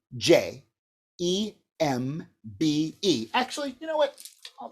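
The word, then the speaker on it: djembe: too here's the word gembe d that's capital d j e m b e there's jembe now the thing is we don't really pronounce the d you kind of pronounce it with the j so as a j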